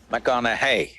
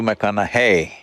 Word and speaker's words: McConaughey: try the second name mcconnell hey rhymes with what would madonna say so so i know you're matthew mcconaughey but do i know